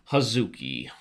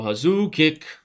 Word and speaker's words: Hazuki: who do we got here we got Rio huki Rio huki named after every character that you mispronounce from Street Fighter Rio hazuki huki right Street Fighter remember when Street Fighter